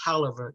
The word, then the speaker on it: Taliaferro: And yes, it is pronounced Taliaferro County.